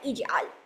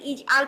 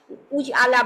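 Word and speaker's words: اجعل: But normally যদি আপনি উচ্চারণ করতে যান, শুধু নর্মালি যদি ইজ আল পড়তে পারেন, ইজ আল থেকে শুরু করেন, তাহলে কিন্তু আপনি পড়বেন ইজ আলা, উজ আলা বা আজ আলা পড়বেন না, ইজ আলা।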